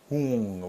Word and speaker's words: Hung: Hung, like Hoong.